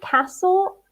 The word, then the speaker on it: castle: Museum, castle, cathedral, bridge, and clothes shop. Careful with the pronunciation of castle. The T is silent. Yeah, it's mute. Castle.